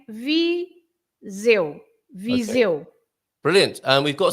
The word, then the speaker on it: Viseu: And the EU, at the end, the EU is exactly as I think it was Antonio who said it's the same. Yes, the same as saying I in Portuguese, eu. So the EU is always the sound eu. Okay. Eu. So you say Viseu.